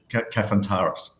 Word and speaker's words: Kafantaris: ask siri uh you're going to get a pronunciation i can't even understand but mate for everybody else it's cafantaris yes that's good that's because that's what i